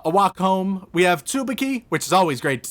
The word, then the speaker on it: Tsubaki: i don't correct you the name is pronounced tsubaki all right cool so